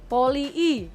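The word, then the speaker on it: Polii: Nah itu cara bacanya gimana sih yang bener? Poli I. Poli I ya? Iya, Poli I gitu. Oh, kayak orang tuh bawaannya ya poli aja, nggak I-nya nggak dua kali gitu.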